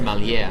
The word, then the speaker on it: Mallea: today I have the privilege of interviewing Malia with malia wines I'm having a little bit of a hard time making sure that I'm pronouncing that right can you pronounce it for everybody okay it's pronounced Melia yeah so like I said right after